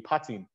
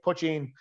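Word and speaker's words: poitín: So the Irish pronunciation would be potting. You'd hear some people say potting, you'd hear some people say putching, but potting would be the actual kind of pronunciation of it.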